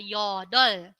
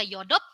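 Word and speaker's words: 여덟: Yang satu lagi ada yodol. Bukan dibaca yodop, tapi dibacanya dol. Yodol.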